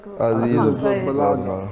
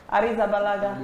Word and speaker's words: Arrizabalaga: Arrizabalaga.